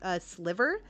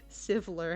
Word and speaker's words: Sivler: I keep saying Silver. Yeah, everyone apparently kept saying Silver, but I called him Sliver. And so he's like, that's an interesting that's an interesting way to missay my name. I'm like, wait, you have a different name? What? He's like, yeah, it's Sivler.